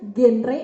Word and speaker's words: GenRe: forum demokrasi bencana ini yang benar bacanya genre apa DP karena seimbang salah jadi genre ya kalau yang salah itu enggak pernah belajar ya genre-genre singkatan dari generasi berencana Oke Langsung aja ya